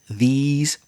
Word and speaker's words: these: This singular, these plural. The spelling doesn't help you. This is the problem with English. So THIS is the short sound, singular, this. And THESE is the long sound, these conversations.